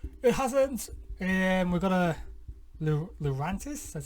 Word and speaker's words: Lurantis: We've got a Lurantis. That's how it's pronounced.